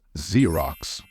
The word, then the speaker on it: Xerox: say this word is Xerox as if the first letter is z I know it used